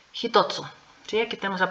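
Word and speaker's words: 一つ: más el sufijo tsu entonces este no se va a pronunciar ichi se va a pronunciar jito que de hecho este ya lo estudiamos cuando vimos el kanji pero vamos a recordar hitotsu Sí aquí tenemos la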